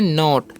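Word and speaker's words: knot: है ध्यान से समझिएगा के एन ओ टी है तो इसे हम पढ़ते हैं नॉट क्या पढ़ेंगे नॉट क्योंकि यहां पर जो है ना के साइलेंट होता है इस बात का आपको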